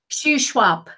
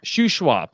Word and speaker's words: Shuswap: And how do you pronounce that? Shuswap. Shuswap.